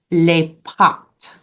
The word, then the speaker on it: les pâtes: So for rice in French, it is pronounced le riz. Le riz. And pasta in French is les pâtes.